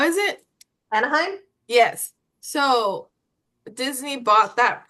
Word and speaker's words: Anaheim: Anaheim. How do you say it? Where Disney is in California? How is it? Anaheim?